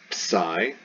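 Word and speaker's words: ψ: used to that one ps psi psi like in eclipse and of course yes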